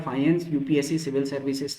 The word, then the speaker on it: faience: Spelling इसकी एक बार ठीक ठाक कर लेते हैं, एफ एफ FAIENCE, ठीक है, फाइंस।